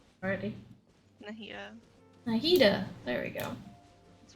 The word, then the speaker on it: Nahida: Nihada, how do you say her name? Already. Nahida.